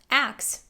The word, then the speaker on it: ask: pronounced the first word on this list is ask which sometimes might be pronounced as ax swapping the s and k sounds this pronunciation